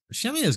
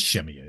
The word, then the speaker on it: Shemya: Shemya's got a big listening. I don't know what kind of ground radar they have out there. It is Shemya, isn't that how you pronounce it?